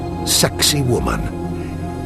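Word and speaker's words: Sacsayhuamán: and this one with an Incan name provocative pronounced sexy woman nearly 20,000 men were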